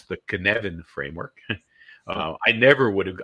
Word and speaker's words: Cynefin: It was pulled together by a person named Dave Snowden, who's from Wales, and I challenge anybody to pronounce this. Okay, but it's the Cynefin framework.